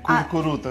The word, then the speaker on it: Curcuruto: Curcuruto es un poco difícil. Curcuruto. Pero... Es que tiene muchas U y las U normalmente no estamos tan acostumbrados a pronunciarlas.